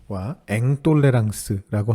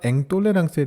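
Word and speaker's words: intolérance: 철학 용어 중에 똘레랑스와 앵똘레랑스라고 하는 단어가 있습니다 좀 익숙하지는 않으실 수 있는데요 영어의 톨루런스와 인톨로런스를 불어 발음으로 발음한 것입니다 우리말로 번역한다면 관용과 불관용이라고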